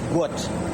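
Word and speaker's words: Guot: This is the correct pronunciation of his son's name. His name is Gut. It's supposed to be G-U-O-T.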